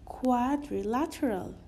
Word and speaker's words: quadrilateral: You will remember it as this, like, pronounce it as two parts, it will be much easier. So the first part will be quadri. The second part will be lateral.